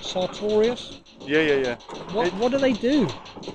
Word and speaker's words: Sartorius: So could you tell me what, am I saying it right, Sartorius?